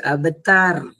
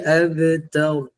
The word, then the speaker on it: abtar: Kemudian penghujung ayat ketiga, jangan baca abtar. Baca abtar. Tebalkan huruf ra.